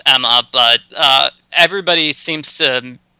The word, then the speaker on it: Ema: saima because what cuz it's spelled weird right it's EMA there's no mm yeah yeah so that's why I say it's probably EEMA instead of Emma but everybody seems to